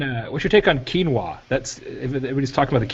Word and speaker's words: quinoa: my daughter calls it quinoa yeah it is quinoa you're pronouncing it correctly uh um that way i